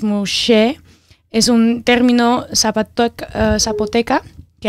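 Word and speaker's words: muxe: So Nemuje, pronounced Muse, es un término zapoteca que hace referencia al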